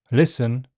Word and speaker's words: listen: In words ending STEN, fasten, hasten, listen, and in some imported French words such as ballet and chalet.